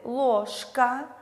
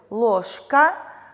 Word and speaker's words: ложка: оглушается в т далее слове ложка звонкая парная же находится перед глухой парный к и у нас к оглушает букву ж поэтому слове ложка же произносится как же ложь к же у нас изменяется на парную же этот процесс называется